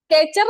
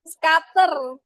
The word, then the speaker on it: scatter: Scatter. Scatter nih ya. Scatter, Sketcher. Ini bacanya Sketcher. Scatter, scatter. Scatter, ya salah ngomong. Scatter, ada yang tahu scatter? Apa? Scatter. Scatter ya, bukan sketcher ya.